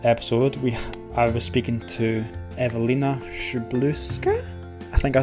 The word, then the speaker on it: Ewelina Szczeblewska: It is Ewelina Szczeblewska, and as you say, I am a trained clinical hypnotherapist and transformational coach.